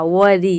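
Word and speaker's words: worry: Sound आ रहा है vowel का, वरी, यानी कि ई का साउंड आ रहा है, छोटी ई का साउंड, इसलिए यहाँ पे आर साइलेंट नहीं है। आर को हम प्रोनाउंस कर रहे हैं, जैसे कि इसका मतलब होता है चिंता, फिक्र।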